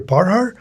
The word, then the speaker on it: Parhar: Parhar. Am I pronouncing your name right? Yes, you're Perminder Parhar. Yes. Hi, my name is uh Perinder Parhar.